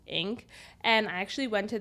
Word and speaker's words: EENK: One of my other favorite shows and moments was the Ink show. The brand is spelled EENK, but it's pronounced Ink.